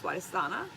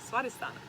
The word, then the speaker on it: Swadhisthana: The Sanskrit for it is Swadhisthana. Hey, I got it right this time without worrying about it. Sanskrit is very literal, so when you read it, you have to pronounce every consonant.